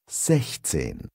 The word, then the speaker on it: sechzehn: In 16, 16, the pronunciation of 6, 6, is slightly different. Compare. Sechs. Sechzehn.